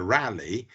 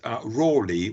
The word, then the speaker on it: Raleigh: in various ways, and is actually pronounced in at least 2 or 3 different ways, as we have heard. The Americans prefer Raleigh, but Raleigh was the contemporary pronunciation of the name.